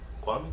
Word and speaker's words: Kwame: Like Kwame's like, Kwame?